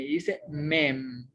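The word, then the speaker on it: מֵם: Luego sigue la consonante mem, precisamente una mem y una seré, forma la sílaba me. Y al final está una M final, que es una mensofit, que simplemente tiene el sonido de una M. Dice mem.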